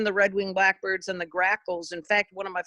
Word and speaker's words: grackle: redwing blackbirds and the grackles in fact one of my first bird names i could actually pronounce was grackle except i said crackle and it just went